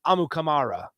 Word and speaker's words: Amukamara: again his last name if you want to officially pronounce it as we heard it on the captain it's amukamara AMU Kamara all wrong thank you go